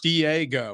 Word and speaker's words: Diego: It's 3 syllables. Diego. That's 4 total.